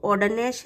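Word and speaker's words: Ogden Nash: जी silent है बेटा यहाँ, तो ऑर्डन नैश है।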